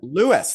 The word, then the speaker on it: Lewes: Lewis, that's how you say it? Yeah. Well, then why is it an E, not an I? I know. I would have called it Lewis if it was spelt like that.